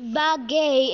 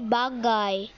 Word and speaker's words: bagay: It's not bagay, okay? You English YouTubers, if you're watching this, it's not pronounced bagay. It's pronounced bagay.